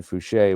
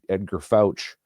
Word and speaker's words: Fouché: of these videos, especially the ones on Ed Fouché, where you call him Edgar Fouch and get his name wrong.